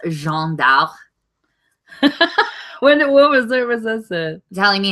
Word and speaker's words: Jeanne d'Arc: I took French for 2 years. It's Jeanne d'Arc.